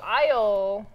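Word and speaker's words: Aysle: Also, Isle, so like the British Isles, I guess. Yep. It's spelled A-Y-S-L-E. Correct.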